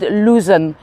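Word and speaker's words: Luzon: when they say it it sounds like loan but it's spelled luzen l u z o n luzen yeah but when they say it it sounds exactly the same as loan yes and um the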